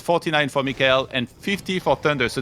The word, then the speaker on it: Mikael: Well, with Korean letters and pronunciation, it is Mikael. Okay. Like Michael is like, American or something pronunciation. Okay. So then it's the question of how, like, you can say it how you want, but he says it Mikael, so that's how I say it as well.